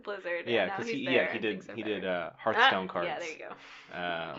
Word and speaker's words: Hearthstone: Well, he had been working, like he did Hearthstone cards. Did I say that right? No, you said it wrong. He did Hearthstone cards. Hearth, like a fire.